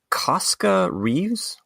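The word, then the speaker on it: Koska Reeves: So the other night owl is Casca Reeves. I believe that is how we would pronounce her name.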